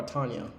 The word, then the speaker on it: Tanja: but it's just just it's Tanja so or Tanya but it's spelled Tanja like with a J I guess at least